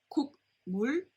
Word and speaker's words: 국물: Now it's not pronounced as 국물, but 국물, 국물. Alright, so the G at the bottom becomes an NG sound, sound, so it becomes 국물, 국물.